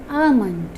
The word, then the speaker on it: almond: It's not almond. L sound is there, but L sound is not pronounced over there. We have to pronounce it as almond.